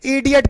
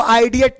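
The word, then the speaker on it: idiot: जैसे इधर देखना, इडियट पढ़ते हैं, क्या पढ़ते हैं इसको हम, इडियट पढ़ते हैं। अब इसको आइडियट नहीं पढ़ेंगे, इडियट पढ़ेंगे।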